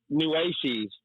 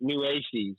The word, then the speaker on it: Nueces: It's Nueces is how you say it. Nueces.